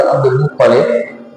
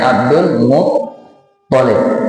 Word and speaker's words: Abdul Muttalib: Muhammad bin Abdullah bin Abdul Muttalib, kakeknya Abdul Muttalib, bacanya Abdul Muttalib. Ada sebagian orang baca Abdul Muttalib. Ini kira lafaznya itu kira tepat. Yang benar yang tasy itu to-nya. Abdul Muttalib, bukan Muttalib.